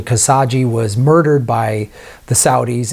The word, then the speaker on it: Khashoggi: So the reaction since that reporter, I believe I'm pronouncing his name correctly, Khashoggi, was murdered by the Saudis in like the Saudi embassy in Turkey, which is pretty insane.